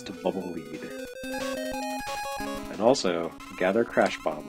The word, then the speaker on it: Bubble Lead: lead or bubble Le it's bubble lead Le you play in Japanese it's it's uh written out phonetically in Katakana and it is bubble lead I guess because it